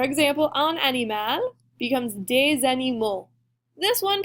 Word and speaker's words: animaux: So our example, un animal becomes des animaux. This one pronunciation gets a little different, right? We're taking the L out, and it's going to make an O sound at the end.